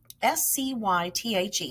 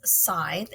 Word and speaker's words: scythe: Now, boys and girls, we wrote down a word, S-C-Y-T-H-E, S-C-Y-T-H-E, and it kind of got me stuck, and I wasn't for sure how to say that word. And I thought it was scythe, and it is scythe, okay?